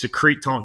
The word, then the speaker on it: secretomes: Is the one that you're making, this bottle of exosomes, which just sounds like has these secretomes, you said secretomes, right? Am I pronouncing that right? Secretomes. Yeah.